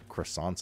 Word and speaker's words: croissant: What about like, what about like croissants and stuff like that? Well, there's some yummy pastries too. They fall in the baked goods pastry department, I think. Chocolate croissant. Croissant. Rhymes with poisson.